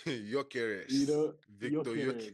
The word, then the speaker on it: Gyökeres: I find a hard time pronouncing his name. You Jokeres. know, Victor Jokeres. Gyökeres.